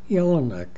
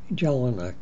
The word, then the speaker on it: Jellinek: river people spoke Czech in these languages the J is pronounced as y so the family name would be pronounced yelan my grandfather was called